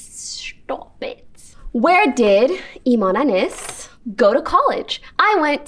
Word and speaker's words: Anys: Okay, first things first, how you pronounce my name. Imane Anys. It's not anus, okay?